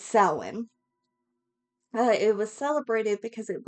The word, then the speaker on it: Samhain: Now, I know that it is spelled and some people pronounce it as Samhain, but it's Samhain.